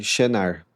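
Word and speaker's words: שנער: Mas se pegar como que seria pronunciado, né, no hebraico, seria mais próximo de Shenar, da maneira que está escrito aí, para a pronúncia do português brasileiro.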